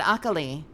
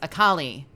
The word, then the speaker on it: Akali: called what's your uh I always said okali uh from uh from um League of Legends but apparently the game says akali it's